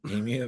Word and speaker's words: emu: I was just thrilled that he pronounced emu right. Um, Emu, right? emu, because a lot of people call it emu. You know, a lot of Americans say emu, Oh, and it's emu.